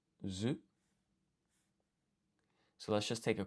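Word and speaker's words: づ: And then this is written as I think this is actually written as du, but it's pronounced as zu.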